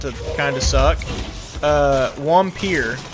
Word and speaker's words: Wampir: kind of suck uh wampir or I guess the way it's spelled is like vampire but I think it's pronounced wampir that game uh yeah I